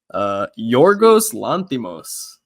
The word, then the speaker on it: Yorgos Lanthimos: Apparently it's Yorgos Lanthimos.